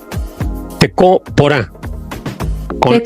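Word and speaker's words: tekoporã: Tecoporá. Con la A final con la nariz arrugada.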